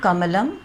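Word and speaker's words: कमलम्: तो क प्लस धन अ, म धन अ, ल धन अ, फिर म, केवल म लिख के यहाँ पे ख़त्म करेंगे, क्योंकि म के बाद कोई स्वर नहीं है, तो कमलम ये इसका उच्चारण होगा।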